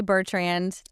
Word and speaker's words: Bertrand: I say Bertrand.